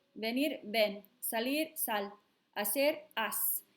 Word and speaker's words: haz: We couldn't leave it a C because then it would be pronounced ak, because C followed by nothing still makes the k sound. So in order to make it a s sound and save the sound of the word, hacer, we had to use a Z to spell it.